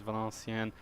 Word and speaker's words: Valenciennes: And then Valenciennes, I keep pronouncing them wrong, but I heard it on the TV yesterday, their name is Valenciennes, and they got a